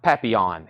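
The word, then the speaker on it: Papillon: I pr that it was much more it's pronounced papon exactly that's exactly what I've been saying we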